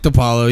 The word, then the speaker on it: Di Paolo: spelled D Paolo but it's a I've been pronounced Apollo its to Paolo Nick DiPaolo yeah I'm opening up for Nick to Paolo